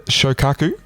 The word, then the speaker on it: Shokaku: Let's hear your Japanese pronunciation. The Shokaku.